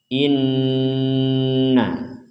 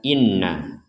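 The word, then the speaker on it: إنّ: pada potongan ayat ini ada Nun bertanda tasydid maka ini harus kita baca dengan dengungan atau berdengung contoh Inna jadi jangan sampai hanya dibaca Inna Nah di sini juga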